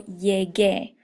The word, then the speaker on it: llegué: You're also going to change a G to a GU before an E, and that's for the same reason. So it maintains the hard G sound instead of the soft G sound.